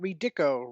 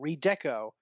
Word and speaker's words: Redeco: black and purple redeco not redico redeco of uh you didn't